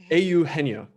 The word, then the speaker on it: Eugenio: Yeah, so it's like Eugenio Suarez. Eugenio. No, close enough. Eugenio. Eugenio.